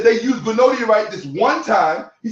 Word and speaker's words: granodiorite: It's called granodiorite. Okay? The stone is not pronounced granadiorite. It's pronounced granodiorite. The long O sound is not enunciated, as if it is a long A.